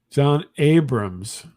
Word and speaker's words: Jon Abrahams: And they had, I'm gonna get his name wrong now. Shit, it was Jon Abraham? Jon Abrahams.